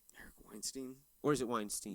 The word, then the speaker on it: Weinstein: That's how they're spelled the same, but the pronounced different.